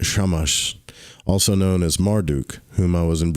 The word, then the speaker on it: Shamash: Curiously enough, the Syrian prince Atu Samas, pronounced Shamash, also known as Marduk,